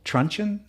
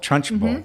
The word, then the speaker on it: Trunchbull: Now, I'm familiar with Principal Truncheon. Is that how you say it? Trunchbull.